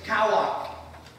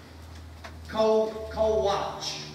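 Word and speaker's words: כֹּחַ: The word powerful is kawak. Kowach. Kowak. Those are different pronunciations.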